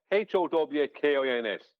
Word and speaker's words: Huygens: But it Yeah, but is if you- Huygens. Yeah, Howkins.